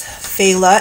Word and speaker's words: Fela: other world the next term after that is Fela and the Fela are kind of these reanimated